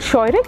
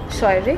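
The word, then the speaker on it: Scheurich: This is a company, and how do you pronounce it? It's called Scheurig. Scheurig.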